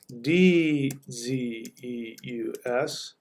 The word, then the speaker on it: Zeus: about this before Zeus whoops Zeus is actually pronounced d ze us and this is if I'm not mistaken this